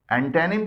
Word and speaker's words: antonym: एंटोनिम की pronunciation यानी तलफ़ुज़ है एंटेनिम, एंटेनिम, एंटेनिम, एंटेनिम, और पार्ट ऑफ स्पीच के लिहाज से ये नाउन है।